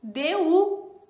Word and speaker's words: du: E temos um terceiro que é o DU, certo? DU. Então a gente pronuncia DU.